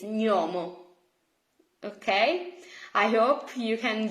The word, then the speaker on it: gnomo: So just try to forget this English notion and please pronounce G plus N as ny, ny. Okay, it's not gnomo, it's gnomo.